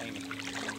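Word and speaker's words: Amis: That's how they pronounce the A-M-I-S? A-M-I-S, Amy.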